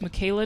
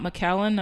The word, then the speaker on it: MagCalen: pronounce my name uh they always make this mistake where they're like so it's Michaela not McAllen I'm like don't say